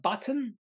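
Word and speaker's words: Butn: at least one uh button b-u-t-n I'm assuming that's how you pronounce it trading update had a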